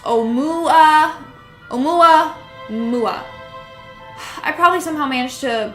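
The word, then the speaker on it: ʻOumuamua: And it was pronounced Oumuamua.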